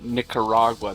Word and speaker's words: Nicaragua: If you're gonna say Nicaragua, make sure you pronounce that hard C.